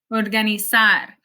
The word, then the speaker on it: organizar: I'm not saying empezar, it's empezar. It's not cruzar, it's cruzar, almorzar, organizar. It actually sounds a lot more like an S in English than a Z.